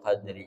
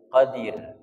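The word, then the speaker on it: القدر: tadinya kasrah jadi sukun jadi cara bacanya inna anzalnahu fi lailatil Qadir boleh kemudian nanti W adrama Lailatul Qadir Lailatul Qadri khairum Min Alfi Syahir boleh seperti itu J kalau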